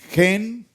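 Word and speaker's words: חן: Y dijo, "Adón, si ahora he hallado gracia, ¿cuál es la palabra gracia en hebreo? Gen, ¿recuerdan? J e n hebreo gen.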